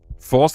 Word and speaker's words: Faust: Faust is pronounced like ow.